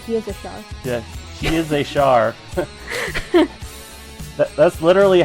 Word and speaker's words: Char: you didn't say it right he is a char that's literally how I wrote it in my